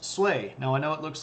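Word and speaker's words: Sui: Dynasty and it's pronounced sway now I know it looks like s it's pronounced sway like Sway in the wind um sway Dynasty now what is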